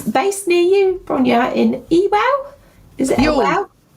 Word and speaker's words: Ewell: And she's based near you, Brona, in Ewell. Is it? Oh, y doesn't sound like It doesn't spell like that. Yule Yule.